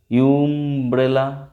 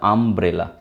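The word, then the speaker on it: umbrella: Unit, এ unit, কিন্তু আমব্রেলার বেলায় দেখো ইউ উচ্চারণ হচ্ছে কি, ইউমব্রেলা করি আমরা, করি না, তাহলে আমব্রেলা, তাহলে অ্যান আমব্রেলা।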